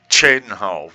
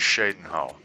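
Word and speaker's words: Cheydinhal: You say Chadenhole when everyone else says Shadenhole.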